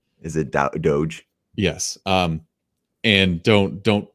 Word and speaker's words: Doge: warnings what was it bitcoin or was it dodge coin because i saw an elon musk tweet about dodge coin which is another altcoin it's pronounced doge is it doge yes um and don't don't put your money